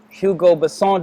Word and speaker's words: Hugo Besson: I have a special guest, Hugo Besson.